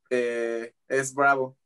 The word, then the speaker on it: S. Bravo: y no sabía español, se podía precisamente pronunciar como es bravo.